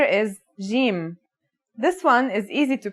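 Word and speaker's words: جيم: In standard Arabic and Syrian Arabic, it should sound like the J in the word jam, while in Egyptian Arabic, it sounds like the G in the word game.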